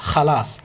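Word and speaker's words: خلاص: আপনারা অনেক বঙ্গানুবাদে কিন্তু খ দিয়ে খালাস, কর্মা, এই ধরনের আসলে শব্দ হয় না, এগুলো খ যেখানে দেখবেন, খ যেখানে দেখবেন সেখানে কিন্তু আপনাকে খ উচ্চারণ করতে হবে। খালাস, খালাস, তাইব, খালাস রহ,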